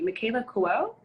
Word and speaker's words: Michaela Coel: Michaela Coel? Is that how you pronounce it?